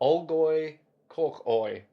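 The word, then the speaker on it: Olgoi Khorkhoi: Because I can actually pronounce probably. Good luck. My dad worked in Mongolia. Oh. Olgoi Korkoi.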